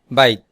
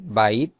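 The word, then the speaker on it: بيت: বাইত এর অর্থ বাড়ি। আরবি শব্দ বেই। বা অনেকে উচ্চারণ করেন বাইত।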